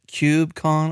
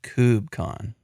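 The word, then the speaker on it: KubeCon: that's a mouthful but is it cubec Con or is it cubon I like the diversity of pronunciation for different things and I'm not going to pick it I'm not going to pick one he refuses for my personal pronunciation I'm trying to remember what I would say I think I would say cubon I don't know if I would say Cube conon like pronouncing the cube I say cubon like KO o b right uh that's probably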